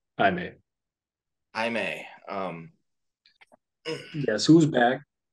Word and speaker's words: Jaime: and also really glad that they're calling him Jaime, Yeah. which hopefully no one in the trailer or movie actually calls him Jamie because his name is Jamie Reyes, but it's pronounced Jaime.